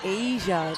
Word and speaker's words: Azia: It's Asia, just spelled in a interesting way.